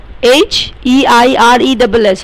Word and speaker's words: heiress: And it is pronounced as air or H-E-I-R-E-S-S or heiress. So we use an with air or heiress because H is silent.